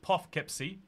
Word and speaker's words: Poughkeepsie: Chantal can get some member benefits if she visits Poughkeepsie, or Poughkeepsie, as it is correctly pronounced.